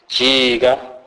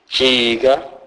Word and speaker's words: jiga: J is pronounced as G. G. This is pronounced as in the English word jig. E.g., jiga, jiga, which means make a turn.